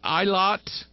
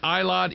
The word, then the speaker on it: Eilat: of yours in, I'm going to try to pronounce this right, Eilat, E-I-L-A-T, Israel.